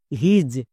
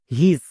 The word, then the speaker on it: his: যেমন এইচ আই এস হিজ একে অনেকে ভুল করে উচ্চারণ করছো হিস বাট হিজ একদমই ভুল উচ্চারণ কারণ এখানে আই এর পরে এস আছে যেমন এইচ এইচ এর